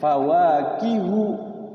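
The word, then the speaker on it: فَوَاكِهُ: ada e Hu itu ternyata bacanya pendek fawakihu enggak panjang itu fawakihu itu tapi pendek satu ketukan fawakihu katsiroh ada juga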